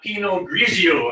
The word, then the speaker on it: Pinot Grigio: talk to you and tell you how to pronounce it. No problem. Right, we have a Pinot Grigio.